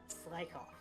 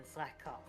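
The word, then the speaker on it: Slakoth: Because then if we reverse engineer it, it should be Slakoff rather than Slackoff because there's only one K.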